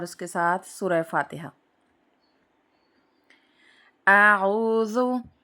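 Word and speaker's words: أعوذ: کے ساتھ سورہ فاتحہ۔ اعوذ، دیکھیں پہلے حمزہ ہے اور پھر اس کے بعد عین ہے، تو دونوں کی شکلیں الگ الگ ہیں تو ان کی آوازیں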